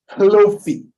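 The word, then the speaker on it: Lophie: There's an H in front of the L-O-P-H-I-E. So it's Lofi.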